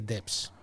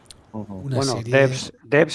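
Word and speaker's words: Devs: Y es nada más ni nada menos que Debs. Debs es una forma de pronunciarlo, Miguel Ángel.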